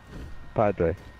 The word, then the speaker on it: Padre: it wrong what a Saint Padre oh it's Padre does that mean I'm your